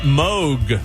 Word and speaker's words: Moog: Synth Day because Robert Moog would have been 91 years old today. Some say Moog, but I think it's pronounced Robert Moog.